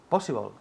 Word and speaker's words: possible: Possible. Good, repeat. Possible. Good. Possible. Possible. Énfasis en la primera sílaba.